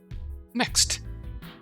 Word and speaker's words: MEXT: Mexed. Yeah. I was gonna pronounce Mex, but it literally MECSST when pronounced phonetically comes out exactly like MEXT.